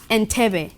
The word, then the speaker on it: Entebbe: Entebbe.